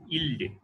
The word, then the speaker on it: ylide: হ্যাঁ ঠিক আছে, WAYLIDE ইলডে, ঠিক আছে। ইলিড বলার থেকে ইলডে বলা উচিত, কিন্তু ইলডে, ইলিডই বলে।